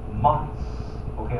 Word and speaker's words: months: 变成后面有点那个呲的音怎么样？不卷舌呲，随便 months，OK 哈，可以自